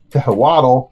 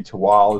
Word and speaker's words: Tehuatl: spelled t-e-h-u-a-t-l so it's naturally most people prize tahawato it's really tawa is the way we pronounce it it is a mesoamerican-inspired expansion to